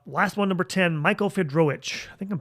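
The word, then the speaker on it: Fiedrowicz: be actually uh last one number 10 Michael fedro I think I'm pronouncing that the right way fedro f i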